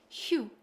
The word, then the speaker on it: 휴: korean so this hanza means shita and it's pronounced hu and there are many korean vocabularies that use